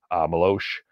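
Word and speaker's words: Meloche: Maloche, I believe, is the correct pronunciation.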